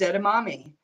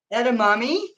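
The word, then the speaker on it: edamame: one of them is Edam momy do you have you ever had those I no said at a Mommy it's spelled e d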